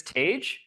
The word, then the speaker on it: Tage: right hi everybody so my name is Tage it rhymes with Paige uh I am speaking